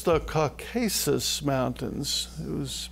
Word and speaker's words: Caucasus: No, it's the Caucasus Mountains. It was mispronounced over here.